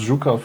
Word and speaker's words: Zhukov: No, we write write with a J like because it's pronounced Zukov.